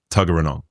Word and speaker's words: Tuggeranong: Is it Tuggeranong? That's pretty good, actually.